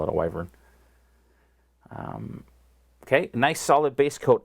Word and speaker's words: Wyvern: Wait, there is no I in there or Y at the end. It's a Wyvern. That's how it's pronounced, but I've never heard anybody call it a Wyvern.